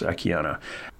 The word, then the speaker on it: Akiane: I say Akiane sometimes because there's an E on the end of it, but it's pronounced Akiane.